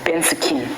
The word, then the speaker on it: bensikin: But then the way you pronounce it is like you have to put in your indigenous accent, bensikin.